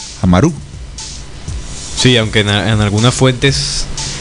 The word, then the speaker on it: Amarú: Si buscamos en la forma de escritura, tiene tilde en la U, Amaru.